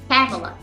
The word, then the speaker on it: Pamela: pronunciation of your name a lot of times my name is mispronounced people called me favela familia but it's actually Pamela Pamela you got it